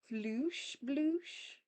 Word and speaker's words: floosh bloosh: Night Watcher, it's pronounced floosh bloosh. Floosh bloosh. Floosh bloosh. Floosh bloosh. Kind of sounds like splash noises, actually.